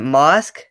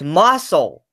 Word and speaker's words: Mosul: fighting over, I'm trying to think, is it mosque? I'm not too sure how to pronounce it.